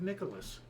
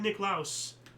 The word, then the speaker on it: Nicklaus: So the golfer, not the not the crazy ass actor, you know who I've always said Jack Nicholas. Yeah, it's Jack Nicklaus. He pronounces it Nicholas.